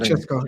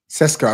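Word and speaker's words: Šeško: So for me, I like the look of how do you pronounce it? Is it Sesko or Chesko? Definitely not Chesko. Definitely not Chesko. Sesko.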